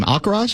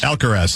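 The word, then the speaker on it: Alcaraz: And it's a shot of Carlos, how do you pronounce his last name? Alcarz. Alcarz. Alcarz.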